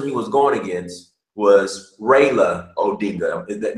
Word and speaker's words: Raila Odinga: was going against was Raila Odinga am i pronouncing his name right raela Prioleau bingo yeah right and his is Raila